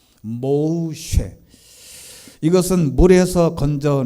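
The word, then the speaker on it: משה: 봤는데 이름이 뭐 센데 정확한 히브리어 발음은 모으 쉽니다 모우 쉣 이것은 물에서 건져 내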